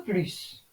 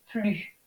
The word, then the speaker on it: plus: On ne prononce pas le S dans la forme négative, ne plus. Exemple, je n'ai plus d'argent.